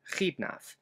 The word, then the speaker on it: Xidnaf: The letter X will be representing the cha sound, just like in my YouTube pseudonym, Khidnaf.